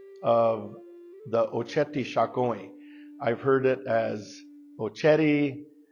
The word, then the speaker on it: Oceti Sakowin: And the term that we hear today that I would like to share is Oceti Sakowin.